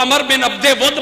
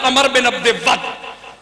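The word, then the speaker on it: عمرو بن عبد ود: عمر بن عبد ود اس کا تلفظ بار بعض لوگ عمر بن عبد ود پڑھتے لیکن درست تلفظ ہے عمر بن عبد ود اس نے خندق کراس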